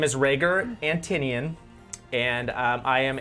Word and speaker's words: Rhaegar: hi my name is Rhaegar spelled it's pronounced Rhaegar don't tell me how to spell my name